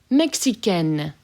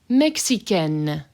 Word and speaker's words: Mexicaine: Mexicaine. Mexicaine. So that hard N there.